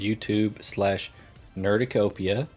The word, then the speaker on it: Nerducopia: find us over on YouTube/Nerducopia, spelled like cornucopia, but with nerd, _ network.